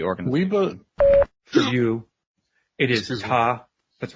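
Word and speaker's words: Tah: For you, it is Ta.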